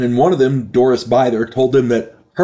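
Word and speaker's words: Bither: mispronounced her name I I said it was bther and it's not it's pronounced byther apologies there um her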